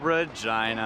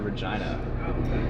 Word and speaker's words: Regina: This is getting us to Regina, which I know you always hate that it's pronounced like that.